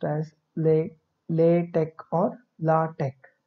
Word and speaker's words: LaTeX: LaTeX is actually pronounced as LaTeX or LaTeX. Note that this X is pronounced as K.